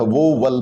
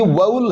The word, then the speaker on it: vowel: मैं ऐसे बोलता था, यानी इसमें मैं 2 सिलेबल बनाता था, एक वो और एक वल। बाद में पता चला कि जब, क्योंकि मेरे को स्पेलिंग दिख रही थी सर उसकी, मैं VOWEL ये देख के मैं उसको पढ़ा करता था, तो इसलिए मैं उसको, मेरी प्रोनाउंसिएशन हमेशा गलत होती थी। बाद में जब ये समझ में आया था कि यार इसमें तो सिलेबल 2 नहीं, इसमें तो एक ही है, ये वाउल है, वाउल यानी एक जो